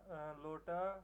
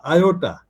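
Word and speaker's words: iota: Epsilon, হ্যাঁ, তারপর ইটা, theta, লোটা, ক্যাপটা। না, এটা না, লোটা না, আয়োটা।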